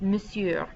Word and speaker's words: monsieur: an unmarried woman and the next one does not sound like what it looks like necessarily it's monsieur that o n right here it just kind of disappears when you actually pronounce it but monsieur is mister